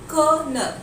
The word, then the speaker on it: colonel: That will be कर्नल. The correct pronunciation will be कर्नल.